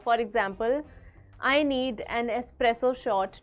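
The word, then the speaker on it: espresso: ही ज्यादा कॉमन है एस्प्रेसो नॉट एक्सप्रेसो there is नो एक्स इट्स एन एस सो for example I need an एस्प्रेसो shot to wake me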